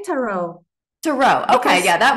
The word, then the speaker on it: tarot: So do you say tarot or tarot? I've heard both ways. I say tarot.